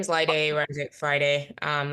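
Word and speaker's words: Laide: off all right um l a i d laade am I pronouncing that correct you want to introduce yourself it's correct hi my name is Li day Friday um like today uh started a I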